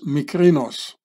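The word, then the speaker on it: Mykerinos: historians in ancient Egypt so in Greek you would pronounce this micrinos Pharaoh micrinos macronos here he is macronos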